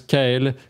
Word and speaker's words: Kael: Donc enfin, on a, last but not least, on a Jérôme alias Brand alias Kael. Je sais, c'est écrit Katal, mais ça se prononce Kael, comme Tamazic, ça se dit Tamazir.